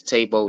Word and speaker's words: Tebo: That's Tebo Notes, not Tebow. I know everybody want to say Tebow, but it's Tebo because it has the My hyphen over bad. the E. My And bad. Tebo Notes.